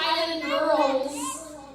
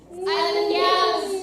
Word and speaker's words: Island Gals: It's not Island Girls. Island Gals. Okay?